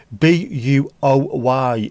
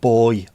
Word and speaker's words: buoy: B-U-O-Y is pronounced boy, not buoy.